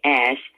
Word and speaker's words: Ash: I wanted to say that it's interesting to me that Andre Ash, and that's how he pronounces his name, works the 7 to 9 time slot. But yet Nolan Finley calls him Osh.